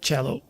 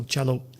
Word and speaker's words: Tchelow: I pronounce it Tchelow, no, Tchelow. So Czech from Czech, and low, normal low. So Tchelow.